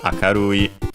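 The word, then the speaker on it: 明るい: And also is unaccented like that, akarui.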